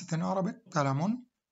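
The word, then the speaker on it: قلم: what object is Palamon this is how to pronounce it in arabic kalamoon say Keith Urban kita born deaf neuron doctrine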